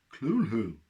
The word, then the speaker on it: Cthulhu: pronunciation guide for cthulhu we said fool who lovecraft said it lovecraft said it cool who or two it's catholic